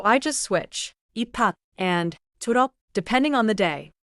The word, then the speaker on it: 졸업: I added something after. 졸업. 좋아요. 다시 해 볼게요. 졸업 짧게 닫고 축하해요. 졸업 축하해요.